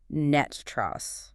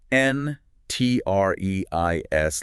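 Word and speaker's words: NTREIS: But locally, it is universally pronounced Net Trust.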